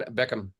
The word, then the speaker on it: Beckcom: Today I have with me Brian Beckcom. It's not the Brian Beckham or the Beckham of football fame, but he's because it's spelled a little bit differently.